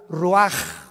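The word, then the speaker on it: רוח: Y exhaló Isaac el roach, así como suena. Se pronuncia la ch en hebreo como J. Roaj, se le salió y se traduce espíritu.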